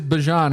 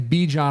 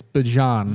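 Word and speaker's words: Bijan: Bjan, which it is Bjon. He came out recently on it. Yeah. He said everyone's been pronouncing. He said he's not mad at it, but you know, he gets Bejon a lot, but it's Bjon.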